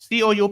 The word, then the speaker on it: coup: COUP we write, but it is pronounced as coup.